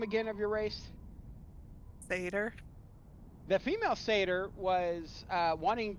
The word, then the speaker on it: satyr: Satyr.